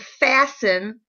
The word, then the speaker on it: fasten: If you'll notice that the word fasten, you cannot hear the T sound.